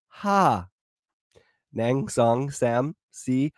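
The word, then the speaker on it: ห้า: And the number 5 in Thailand is pronounced ha. Nang song sam si ha.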